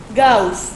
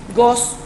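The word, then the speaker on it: Gauss: matemática eh el matemático gaus gos realmente se pronuncia este cuentan que cuando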